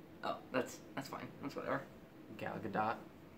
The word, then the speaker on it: Gal Gadot: Gal Gadot. It's with a short O and you in a hard T. So the O is short, but the T is like very prominent.